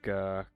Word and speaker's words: Skirk: You don't know how to pronounce skirk. Um, it's it's girk. It's kind of like rap from five or 10 years ago where everyone went skirt except it's skir sk. Oh, what time do we need to wait for eight?